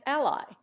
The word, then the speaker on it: ally: mama Papa inquiry and Ally Americans almost invariably accent each on the first syllable Englishman stressed the second four months during 1918